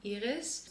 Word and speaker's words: Iris: you are new hi my name is Iris in Dutch it's pronounced Iris born and raised in